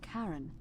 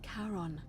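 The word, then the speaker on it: Charon: Only your pronunciation is a little off. The name you heard wasn't Karen. It was C H A R O N. Oh no. Karon, the fairyman of the dead.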